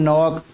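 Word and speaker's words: knock: some words have initial consonants which are not pronounced, जिनको बोला नहीं जाता, जैसे एच है इन ऑनेस्ट, डब्ल्यू है इन रैप, के है इन नॉक, वी पुट the article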